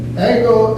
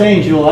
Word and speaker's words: Angel: By the way, these three gentlemen over here, Ango, I don't even pronounce it, Angel. Well, it's Angel, I pronounce it an Angel.